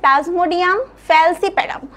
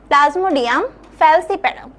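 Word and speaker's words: Plasmodium falciparum: করে পড়ার যে নামগুলো কি প্রথমে আমাদের আছে প্লাজমোডিয়াম ফ্যালসিপেরাম প্লাজমোডিয়াম ফ্যালসিপেরাম সবাই উচ্চারণ করবে নিজে নিজে ঠিক আছে প্লাজমোডিয়াম ফ্যালসিপেরাম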